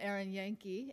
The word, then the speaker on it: Erin Yanke: I'm so happy to welcome Erin Yanke. Am I pronouncing it right?